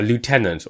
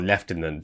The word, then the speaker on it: lieutenant: it would be a a lieutenant or leftenant depending on how you pronounce the word so you've been put